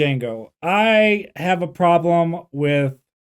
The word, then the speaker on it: Django: okay well let's talk about it that was Jango Unchained and I'm so thankful that I can